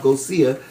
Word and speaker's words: Gossier: But actually, it's a French name, just like Sidney Poitier. Spelled the same on the end there, that I with I-E-R. Yes. Well, he has that same on the end of his, and it's Gossier, like Portier Gossier.